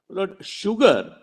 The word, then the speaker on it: sugar: that do you know sugar is the only word in English where s is pronounced as sh in his answer was